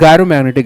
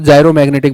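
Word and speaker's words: gyromagnetic: अब इसको कोई और कुछ प्रोनाउंस करता होगा तो वो उसकी अपनी समस्या, भाई मुझे तो देखो तुम्हें पता ही है, गायरोमैग्नेटिक ही बोलते हो। नहीं, कुछ एक बच्चों को मैंने सुना जायरो मैग्नेटिक बोलते हैं, बहुत जायरो बोलते हो तुम लोग।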